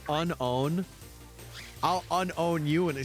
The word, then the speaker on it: Unown: Actually, it's pronounced unown.